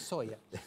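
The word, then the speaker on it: Zoja: sé cómo se pronuncia, no creo que sea Soya, porque si no sería Soja. Es un italiano, es Soya. Soya, suena como soya.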